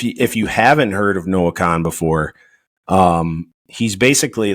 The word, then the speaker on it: Kahan: weird spelling but um a lot of people pronounce it Noah Kahan or something like that it's Khan um I I encourage